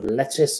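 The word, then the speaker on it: Lettice: look her up but her name is spelled l e t TI i c e and she has exceptional Talent so I urge you to listen out for lece a bofam or as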